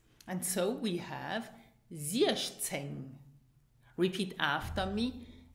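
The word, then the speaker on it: siechzéng: And then it is followed by the letter Z, which is pronounced ts. And so we have zieszceng. Repeat after me, zieszceng.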